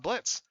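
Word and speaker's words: Blitzø: Rogers, we have uh Blitz, although they didn't actually cross out the he would actually hate this toy because, you know, he treats the O is silent.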